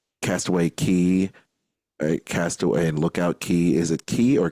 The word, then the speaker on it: Lookout Cay: Cast Away key right is that now or is it Lookout or is it Lookout look out Lookout key yes you know uh I've